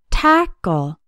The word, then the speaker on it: tackle: The letter A in tackle has the A sound, like in the words tap, cat, and pack. Tackle has two syllables, and the stress is on the first syllable, tackle. The second syllable sounds like a short ul, like in pull.